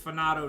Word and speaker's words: Fanato: It's FANATO now, officially FANATO, because I believe it's supposed to be pronounced as FANATO.